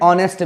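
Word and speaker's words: honest: फिर लिखा हुआ है संतोष इज एन ऑनेस्ट मैन। हम जब ऑनेस्ट लिखते हैं तो एच को नहीं पढ़ते हैं, एच को रखते हैं साइलेंट।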